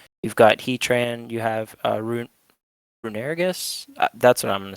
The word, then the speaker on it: Runerigus: You've got Heatran, you have Runerigus. That's what I'm going to say for it, but I've always um, pronounced it Runegrigus.